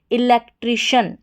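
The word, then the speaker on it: electrician: सी आई एन शन इलेक्ट्रिशियन इलेक्ट्रिशियन अब इसको पढ़ने को तो इलेक्ट्रिशियन पढ़ देंगे तो सही इसका प्रोनाउंसिएशन जो है इलेक्ट्रिशियन है शन करके पढ़ेंगे सी आई एन इसका उच्चारण शन करके अब यहां पर टी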